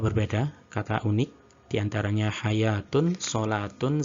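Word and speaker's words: صلوة: Namun sebenarnya itu sama, bacanya adalah hayatun. Pada beberapa kata ini, yakni hayatun, solatun, sama zakatun, model penulisan pada cetakan Madinah adalah semacam ini.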